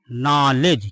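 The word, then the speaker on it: knowledge: एन आ गया हां कुछ लोग इसका यह भी रूल बता देते हैं कि जब के के बाद एन हो एन के बाद कोई वावेल आ जाए तो वहां पर के का उ उरण नहीं होता तो वह रूल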